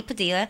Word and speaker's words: Padilla: you can contact Heidi Padilla and/or she pronounces it padilha but at the Villa